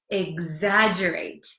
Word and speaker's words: exaggerate: it again exagerate it looks like it's hard to um pronounce because there's an X there's two G's it's kind of a mess but it's exaggerate exaggerate okay so do you